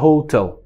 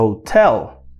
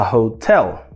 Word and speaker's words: hotel: E olha só, essa palavra é muito importante porque a gente não vai colocar a tonicidade, a força na primeira sílaba, é na segunda. Então, não fale a hotel. Na verdade, a gente pronuncia a hotel.